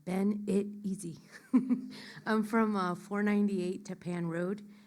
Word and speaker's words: Benitez: My name is Benitez, B for boy, E-N-I-T-E-Z. I spell it like Ben-It-Easy.